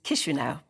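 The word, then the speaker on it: Chișinău: And its capital is Chisinau, even though it's spelt with a CH.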